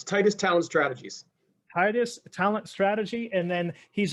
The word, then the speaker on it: Titus: called titus uh is that correct did i pronounce that correct yep it's tightest talent strategies titus talent strategy and then he's also on youtube